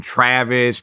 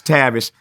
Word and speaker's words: Tavis: I hated the name Tavis because I was always called out of my name, Travis, Tavis. Nobody could pronounce Tavis.